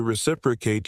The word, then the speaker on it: reciprocate: The word itself is pronounced r e is i prek where that stress on the second syllable gives it a confident ring.